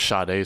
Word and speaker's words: Sade: Sade. That's how the pronunciation works with Yeah.